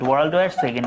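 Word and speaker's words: World War II: ওয়ার্ল্ডওয়ার সেকেন্ড। এটা কিন্তু টু না উচ্চারণটা হচ্ছে সেকেন্ড এটা অনেকে ভুল করো এ কষেত্রে কিন্তু বসে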